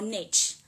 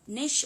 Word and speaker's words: niche: about your niche or niche. I don't know, people have different pronunciation. Some pronounce the niche or some pronounce the niche. Both are fine.